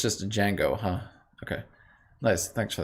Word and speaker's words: Django: it in some way the d is silent is it i actually never knew that so it's just a django huh okay nice thanks